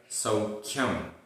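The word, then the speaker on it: सौख्यम्: आधा ख और या, सौख्यम।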